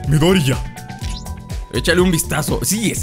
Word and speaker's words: Midoriya: Midoriya. Me dicen que no pronuncio la ya, pero sí la pronuncio, nomás que como los japoneses, así como que no se nota. Midoriya.